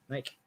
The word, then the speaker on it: Naik: Naik. Okay, you don't say the I there, huh? Naik?